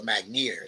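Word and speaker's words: Magnier: the name of Elijah mager okay or mager sometimes it's said or pronounced he is a wonderful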